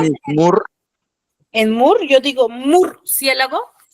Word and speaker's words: murciélago: Murciélago, ¿cuántas sílabas tiene? Murciélago.